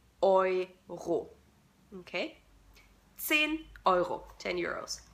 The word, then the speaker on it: Euro: The German currency or the European currency is pronounced Euro. Euro. Okay? The EU in German is pronounced O-I. Euro.